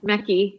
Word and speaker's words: Mekki: word uh it's valerie mickey am i saying it right your name yeah mackie yes yes valor mickey what's the